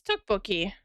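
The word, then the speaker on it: tteokbokki: It's spelled like how Kale lives today. Tuki. Yeah, that's toukbookie.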